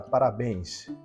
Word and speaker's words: parabéns: colocar aqui a palavra parabéns para béns Qual é a sílaba tônica Parabéns exatamente a cônica é é o b e ela termina em